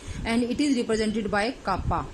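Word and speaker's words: κ: इट is represented by कापा, इसको बोलते हैं कापा, K is pronounced as kappa.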